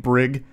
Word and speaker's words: Brig: I knew a kid growing up named Brig, Hard G, which I actually like better, though more likely to be mispronounced.